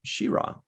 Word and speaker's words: She-Ra: there's a six however i got ryan to start saying shira yeah well i think that's what they called it she-ra i don't think it's whatever charade so uh question number